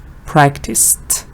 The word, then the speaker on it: practiced: after that for example practice again it's tear sound practice practiced it has the test sound washed practiced needed is